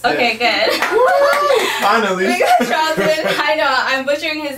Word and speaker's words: Charldyn: And we got Charldyn. Did I say it right? Yes. Okay, good. Finally. We got Charldyn.